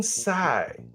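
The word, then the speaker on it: Tsai: This gentleman's name is Ming Sai.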